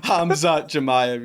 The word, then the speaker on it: Khamzat Chimaev: Khamzat Chimaev. Am I saying that right or incorrect? Did you just try to say Khamzat Chimaev? Yeah. Did I say it wrong? Correct. Khamzat Chimaev, yeah.